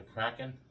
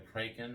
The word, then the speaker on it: kraken: Today on Let's Talk, we're talking about, well, the kraken or the kraken or whatever. throw in the comments. Yeah. Well, it's spelled like, kraken, but it's the kraken.